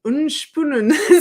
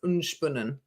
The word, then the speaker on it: Unspunnen: Why are you, Liz, pronouncing unspunnen so strange? Isn't it just unspun plus N? Apparently, no, it's not. It's unspunnen. It's Swiss. Is it not Swiss?